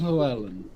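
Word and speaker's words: Llewelyn: as long right but yeah it is desmond lauerland which is the name of the actor who was absolutely brilliant and i still say they should have retired q when pluellen died oh definitely that replacing him was an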